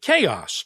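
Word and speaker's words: Kaos: the first time including the chaos triple malt and that is spelled k-a-o-s it's a blend of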